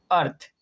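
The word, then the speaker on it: earth: और इस वर्ड को हम पढ़ते हैं अर्थ, अर्थ यानी कि छोटे आ के उच्चारण से।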